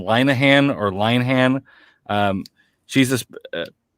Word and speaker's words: Linehan: first name meg um she was the one that kind of broke that three syllables i believe linahan she's the one who